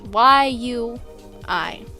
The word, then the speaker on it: Yui: It's Y-U-I. That's how you spell it.